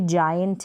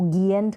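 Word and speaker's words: giant: ये जायंट है, इसको गियंट करके प्रोनाउंस ना करें।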